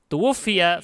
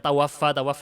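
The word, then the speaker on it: تُوُفِّيَ: Tuwuffiya fi Ramadan, bacanya itu tuwuffiya. Pakai mabni lil majhul. Tuwuffiya. Meninggal jangan dibaca tawaffa bukan ya.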